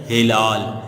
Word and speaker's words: ہلال: بیٹا۔ پہلا لفظ ہے ہلال۔ ہلال، ہے کے نیچے زیر۔ دوسرا لفظ احترام، تے